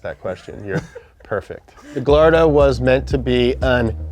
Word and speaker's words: Gallardo: It's not Gallardo, okay? In Italy, they pronounce the L. Lamborghini Gallardo.